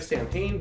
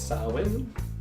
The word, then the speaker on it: Samhain: That's the proper pronunciation of the game. Looks like Samhain, but it's Samhain. Samhain.